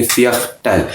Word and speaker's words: Viertel: यहाँ पे एक बात ध्यान में रखिए कि इंग्लिश में जो V है वो जर्मन में V नहीं है, उसकी प्रोनाउंसिएशन फाव है, F की प्रोनाउंसिएशन आती है। जहाँ जहाँ V लिखा होता है वहाँ पे हम F साउंड में इसको प्रोनाउंस करते हैं।